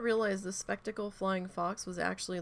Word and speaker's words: spectacled: the Flying Fox yeah it's spectacle spectacles like wearing glasses okay my dyslexic brain